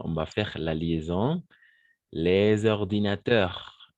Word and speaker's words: les ordinateurs: Les ordinateurs. Les ordinateurs. On ne va pas prononcer le S. Pour faire la liaison, on va prononcer le S. Les ordinateurs comme un Z.